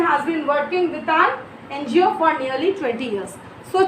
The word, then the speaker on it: NGO: Miss Kim has been working with an NGO. Before NGO, why we are using an? It is starting with N because the pronunciation is coming of N, E-N, an NGO, okay, with an NGO for nearly 20 years.